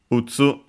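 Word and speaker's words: 打つ: We have its kunyomi, strictly Japanese reading, utsu.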